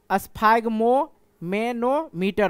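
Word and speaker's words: sphygmomanometer: को कहा जाता है सफाइगोनोमीटर, ठीक है। ये प्रोनाउंसिएशन इसका मेरा थोड़ा ये मिस्टेक होता है, इग्नोर करना मेरे भाई। स्फाइग्मोमेनोमीटर होता है, एक बार में समझ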